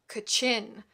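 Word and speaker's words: Kachin: hinga kitchen in parentheses these last pronounce with the accent on the second syllable it seemed to him ro hanga kichan Carentan we get several more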